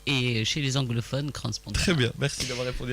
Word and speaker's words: Crans-Montana: un débat qu'on a eu, Fatia, concernant la prononciation du nom de ce forum. Est-ce que c'est Crans-Montana ou Crans-Montana? On en a parlé avec le président du forum. En fait, en français, on dit Crans-Montana et chez les anglophones, Crans-Montana.